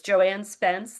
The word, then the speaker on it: Joanne Spence: And I broke one of my rules and did not say, is Joanne Spence the correct pronunciation?